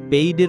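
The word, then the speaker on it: paid: পেইডের উচ্চারণ হবে পেইড, আর ওয়েটের উচ্চারণ হবে ওয়েট।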